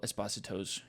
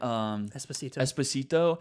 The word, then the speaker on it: Esposito: is they dropped the ball again with Giancarlo Esposito's character. Completely. Is that how you say his name? That's how he said it. He like everybody's saying Esposito.